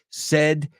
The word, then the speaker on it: said: Muchos dicen said y says, pero cambia el sonido vocal y es said and says.